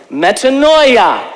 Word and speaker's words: metanoia: It is the Greek word metanoia. Metanoia. I have to say it like my brother Vincent over here.